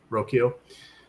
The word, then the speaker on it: Rocchio: Jonathan Rodriguez, Will Wilson, Austin Hedges, Brian how does he pronounce his name? Rocchio.